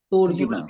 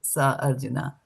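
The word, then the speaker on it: सोऽर्जुन: I did not say sa Arjuna, right? Or so Arjuna. I didn't say that. It's so Arjuna because there's no a now.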